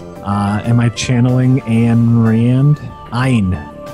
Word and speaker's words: Ayn: Ayn. That's how you pronounce that.